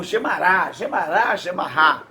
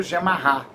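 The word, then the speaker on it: גמרא: E ainda tem o Gemará, ou Gemará, que se pronuncia, que é o comentário dessas leis, que foi feito pelos rabinos, foi feito em aramaico. Esse comentário chamado Gemará, ou Gemará, prefiro Gemará, que coincide mais com o hebraico.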